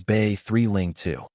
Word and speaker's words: Bailing: Just a reminder, Bailing North Icicle and Bing North Hill both pronounced as Bay 3 Ling 2.